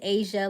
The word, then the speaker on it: Aysia: you're doing well Sharon my name is Asia like the continent I spell it differently but I go by Asia it's spelled a y s i a um it's 1219 for